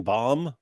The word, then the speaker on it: bomb: Like when you would pronounce the second B in bomb, you say and bombing them, right?